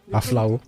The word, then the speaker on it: Aflao: Aflao. There's no P there. No? Yeah, that's how it's pronounced.